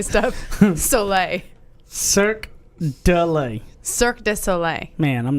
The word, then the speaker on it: Cirque du Soleil: Let me pronounce. Amaluna. Yeah, but the Cirque du Soleil.